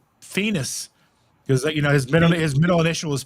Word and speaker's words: Phoenix: It's Phoenix, like penis with an F, okay.